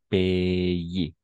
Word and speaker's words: payer: AI ou AY, toujours E. Ce sería payer, d'accord? Payer, très bien.